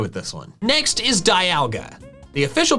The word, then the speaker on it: Dialga: You don't say demon, you say diamond. Diamond, dialga. Also, dials, like a sundial. That's another time thing. In short, I'm gonna keep calling it dialga because I think that pronunciation makes just as much, if not more sense than dialga. And also it sounds more fearsome because its name starts with die.